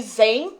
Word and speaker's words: Xen: ensinar vocês a falarem porque escreve sem com x mas a pronúncia é vem com z tá então eu vou falar que Zen mas o zen é